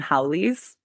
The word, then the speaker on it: haole: but they call them haoles. No. Okay, haole which ha o le like the or whatever the way it's spelled if you break it down ha the breath and the second part meaning without.